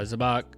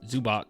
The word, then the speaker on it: Zubac: Brook Lopez seven uh zabach uh I could never say his name right but zubac zubac I think uh seven nerkish seven